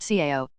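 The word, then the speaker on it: 草: The character is pronounced Cao, and it means grass.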